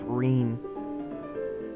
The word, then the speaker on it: Rin: Ren I think yeah Devon told me it's pronounced Rene I'm Rene Rene